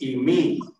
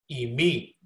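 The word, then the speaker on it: εἰμί: This is the accent mark. So you want to stress the syllable that the accent mark is on. और आखिर में जो ऊपर आपको एक निशान नजर आ रहा है इसको हम एक्सेंट मार्क कहते हैं और आपने इस एक्सेंट मार्क के ऊपर जोर देना है. So eimi. तो इसको हम कैसे पढ़ेंगे eimi.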